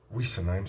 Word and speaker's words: Wissenheim: C'est pas Wissen, c'est Wissen. Voilà. Donc je voulais faire cette petite vidéo un petit peu polémique. Je sais qu'il y a plein de gens qui ne vont pas être d'accord, mais jusqu'à preuve du contraire, Wissenheim se prononcera Wissenheim.